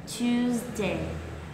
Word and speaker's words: Tuesday: Lưu ý là cái chữ S ở đây sẽ là âm Z, nên các bạn sẽ phải lướt qua cái âm này ngay trước khi làm nhé, không được nuốt cái âm này, đọc là tu đây là sai đấy nhá.